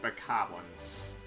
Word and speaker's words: bokoblin: But I think they're mainly supposed to be pronounced bokoblins. Like, the base word being goblins.